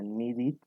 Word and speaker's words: needed: Cuando los verbos normales terminan en T o terminan en D, nosotros pronunciamos la E como una I.